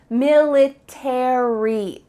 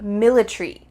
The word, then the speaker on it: military: book about the military in American English you're gonna pronounce each of the final letters 8ry military in British English they often cut out the a so instead of military it would be military military that a is